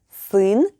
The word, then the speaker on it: сын: Next up is сын, a combination of s, u, and n.